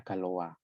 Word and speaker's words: Galois: Galois itu nama orang ya, orang Prancis ya, maka dia bacanya Galois.